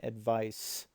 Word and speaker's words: advice: um is different than advice with a c and sounds like an S um advice is the